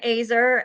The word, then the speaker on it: Oeser: weren't here earlier um my name is AER and I always say that because people have a hard time pronouncing it and I'm a blessing finder and